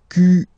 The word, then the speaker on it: quel: Quel, masculine form here, will be pronounced exactly as the feminine form here. Quel. So, only one sound, okay?